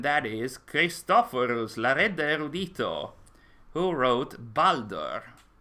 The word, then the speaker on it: Baldur: is christopher's who wrote baldur or boulder as it is pronounced so congratulations christopher's you